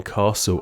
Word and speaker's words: castle: silent S in island, a silent T in castle, a silent U in